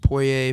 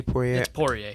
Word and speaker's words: Poirier: wants to if um i always pronounce it poirier pourier yeah pourier gotcha if if he wants